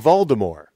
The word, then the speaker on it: Voldemort: he nails all the pronunciations the way they're supposed to be, Like- including saying Voldemort, which is how I always have said it.